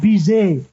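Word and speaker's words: Bizet: by the famous composer George Alexander Cesar leard Biz how do you spell it uh c a r m n George bizay was born in 1853 and died in Oblivion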